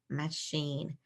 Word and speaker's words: machine: a different sound for cha let's try sh mashine mashine that's not it all right so let's change this sound let's try e because I consonant e can be a long e sound as well in machine machine sounds like machine doesn't it yeah so this